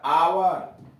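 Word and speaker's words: hour: तो यहां देख लीजिए, एच ओ एन ओ यू आर, ऑनर, इज्जत, एच ओ यू आर, आवर, घंटा, Thomas, T एच ओ एम ए S, Thomas को एच साइलेंट है, पढ़ते हैं टॉमस, टॉमस नाम है।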